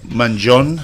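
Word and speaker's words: Mangione: for you Luigi Manon Manon Manon so you don't pronounce the I at the end you can you can it's up yeah some people do some don't everybody labels themselves as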